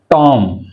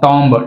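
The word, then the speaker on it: tomb: టామ్ అంతేగాని టాంబ్ టాంబ్ అనకూడదు. Right, టామ్.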